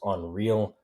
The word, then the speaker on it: UNRL: letters, but she's like, I thought it was pronounced as Unreal. And it is pronounced Unreal.